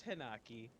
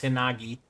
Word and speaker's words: Hinagi: anyway and then there's hinaki and I've hanaki is spelled wrong it's hinagi yeah it was a g actually Quentin isn't even on